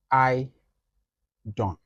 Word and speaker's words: iDON: So it's pronounced as I Don. Just like the name, the I is in small letter. I. Then the DON is in block letters. That's I Don.